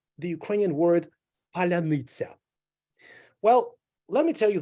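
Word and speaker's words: паляниця: It's called palanitsa. So Ukrainians are telling Russians, can you say palanitsa? They're saying, no, we cannot. And when they're trying to pronounce the word, they say palanitsa. They are reducing vowels.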